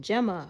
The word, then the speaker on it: Gemma: And I'm like, well, it's gem, like gemstone, Gemma, right? But I just always automatically spell my name because people always try to do the J.